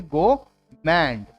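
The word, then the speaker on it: gourmet: इसमें भी are silent रहेगा, तो आप बोलेंगे गोमेंट।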